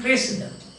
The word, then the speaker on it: Cressida: He was entrusted with the duty, and he manages to get back Cressida, the love affair between Troilus and Cressida. The pronunciation is Cressida. Troilus and Cressida.